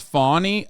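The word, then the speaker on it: Fani: One is it's pronounced Fawny.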